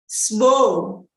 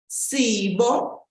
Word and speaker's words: Sbo: And this is a name for girls, and it's shortened this way. Sbo, Sbo. So simply the first two syllables with the I dropped. Sbo. But you'll also hear people say Sibo, Sibo. And those are people usually from the northern part of the country who say that.